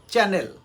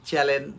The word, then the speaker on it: channel: প্রনান্সিয়েশন হবে চ্যানেল বাট আমরা কি একটা বলি চ্যালেন বা এই টাইপের কিছু একটা ওকে নেক্সট পেনাল্টি